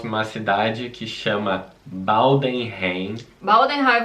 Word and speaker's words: Baldenheim: Baldenheim, vou deixar escrito aqui, porque se pronuncia em alemão, né?